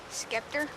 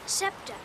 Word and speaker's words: scepter: scepter in my hand skepter what's a scepter scepter it's pronounced scepter it's sort of a